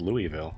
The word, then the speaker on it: Louisville: if the worst comes to the worst it's pronounced Louisville okay I haven't been pronouncing it all wrong